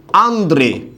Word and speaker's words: আন্দ্রে: পারি আমরা বলতে পারি আন্দ্রে কি বলতে পারি বলুন তো আন্দ্রে রাসেল আমরা বলি না আন্দ্রে এই যে আন্দ্রে এর মধ্যে এখানে মনে রাখতে হবে আপনাকে র ফলার উচ্চারণটা কিন্তু এখানে থাকবেই তাহলে এটার উচ্চারণটা কি